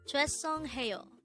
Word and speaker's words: 죄송해요: This is pronounced as a four syllable word. The first syllable is chue, second syllable is song, third syllable is he, and the fourth syllable is yo.